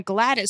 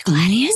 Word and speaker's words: Gladius: She's a swashbuckler wielding dual guns and a Gladys sword that can do either slashing or piercing damage. It's Gladius.